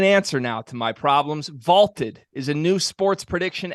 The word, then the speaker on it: Vaulted: That's Vaulted, VLTED, pronounced Vaulted.